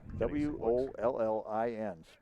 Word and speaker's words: Wollin: W O L L I N's pronounced Wollin.